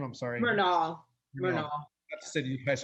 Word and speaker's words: Renaul: Murnau.